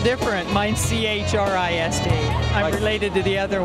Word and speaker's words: Christ: It's spelled different. Mine's C-H-R-I-S-T.